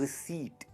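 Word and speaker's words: receipt: हमें मिलती है रिसीट। क्या मिलती है? रिसीट। रिसीट। इसमें जो पी है ना वो साइलेंट है।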